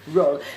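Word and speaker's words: Ruhl: Roll. Je le dis comme ça parce qu'il y a un H, donc je ne sais pas comment prononcer le H après. R-U-H-L.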